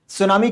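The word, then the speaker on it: tsunami: और हम चहिए और सुनामी के बारे में वह करते हैं शुरू होता है इसे लेकिन साइलेंट होता है सूनामी ओके क्या होता है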